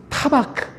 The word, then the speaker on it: 타바크: 헬라어가 타바크야. 타바크. 얼른 이미지를 떠올려 보세요. 잊지 않으려면 타박하지 마세요. 날 타박하신다? 안 잊을 겁니다. 그 타바크입니다. 발음이 타바크야. 이게 붙드시는 거예요.